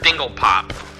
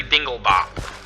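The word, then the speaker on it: Dinglebop: In the Rick and Morty episode, first time it was said, it was mispronounced as Dingle Pop. It's actually Dingle Bop.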